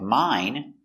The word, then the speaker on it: mine: So if you have 1 syllable word, like mine, the sound is always I, a long I sound, mine.